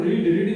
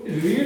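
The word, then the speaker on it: read: इसके बाद एक वर्ब और आप जानते हो, रीड मींस होता है पढ़ना। तो इसको रीड ही पढ़ते हैं वैसे फर्स्ट फॉर्म में, लेकिन सेकंड फॉर्म में रेड पढ़ते हैं और स्पेलिंग एक जैसी होती है।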